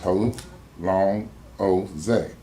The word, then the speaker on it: Hosea: nor the spelling of my nickname, Hosea, pronounced Ho, long, O-Zay.